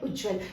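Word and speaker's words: उज्ज्वल: ये सही नहीं है ये उच्चारण करके देखिए उज्जवल दो बार ज की ध्वनि आपको प्रति तीत हो रही है ना बोलते समय तो ये है उज्जवल हिंदी भाषा की एक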